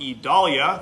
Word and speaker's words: Idalia: I'm meteorologist Joseph Neubauer doing a Facebook Live update on Tropical Storm Idalia. That's the pronunciation on our latest named storm off the Yucatan Peninsula.